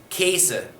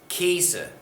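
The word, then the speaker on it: gheese: the past participle we get g-h-e-e-s-e that gets pronounced casa casa another one that you'll hear a lot ironically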